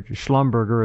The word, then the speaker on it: Schlumberger: do know that Schlumberger, or Schlumberger as some people pronounce it.